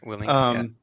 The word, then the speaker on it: Willink: Tim, you got me a book a while back by Jocko Willink. Is that how you pronounce his last name? Yeah, Willink.